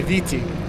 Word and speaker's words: Viti: but in the Tonga language it's pronounced Fiji, Fiji, and here they say Viti, and so Okay.